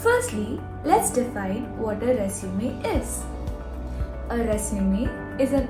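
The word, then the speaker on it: résumé: education and your qualification now let's pronounce resum re Zu me now repeat after me re Zu me one more time re Su me resume what you learned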